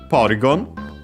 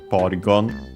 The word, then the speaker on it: Porygon: Then we have Porygon.